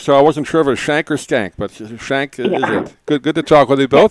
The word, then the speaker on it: Schank: Am I pronouncing your name right, Hana? Is it Schank?